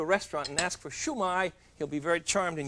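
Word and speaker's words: shumai: and it's called a shoe my shoe my Shu - Mei shoe my and it's pronounced downhill Chinese always goes downhill da-da-da-dah so it's not shoe my and it's not shoe MA it's shoe my shoe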